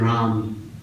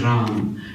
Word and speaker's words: Ram: I want to tell you guys a little bit about the name of Ram. Ram is 3 syllables. Ra, A, Ma.